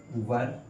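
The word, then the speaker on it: were: हो जाती है, यू वर। अब दोस्तों यहाँ पे एक वो प्रोनाउंस अपना जो है वो सही करना है, इसको हम वियर नहीं पढ़ते हैं, वर पढ़ते हैं।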